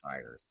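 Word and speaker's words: Stiers: It is pronounced Styers.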